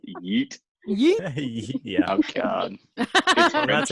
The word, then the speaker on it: yeet: and there's been a Chris- lot of yets being yeah. thrown around. Yet. Yet. Yeah, I think So- it's pronounced yeet.